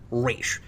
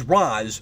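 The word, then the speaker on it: Ra's: to speak of raz shredder pronounces it like the animated series and the way it's traditionally considered correct race but everybody else says roz like in batman begins i don't know how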